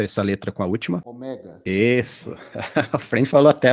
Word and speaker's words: ômega: Aí o eta e o ômega não se pronunciam com acento agudo, tá? Então você vai pronunciar ele fechado, como se tivesse um acento circunflexo.